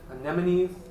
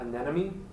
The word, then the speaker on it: anemone: there's like little sea anemones did you also notice pronounced anemone not an enemy Wow and so the